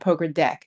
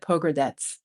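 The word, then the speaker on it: Pogradec: It's not poker deck. It's like pogerets, something like that.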